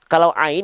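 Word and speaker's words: عين: Jadi kalau ain dilafalkan dari sini. A-i-au-ba. Kalau hamzah dia dilafalkan di bawah.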